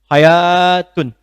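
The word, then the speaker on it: حياة: Hayat itu pakai alif hayatun. Sesuatu yang pakai alif kalau dari segi pengucapan itu menunjukkan kalimat yang dibaca mengalami pemanjangan bacaan.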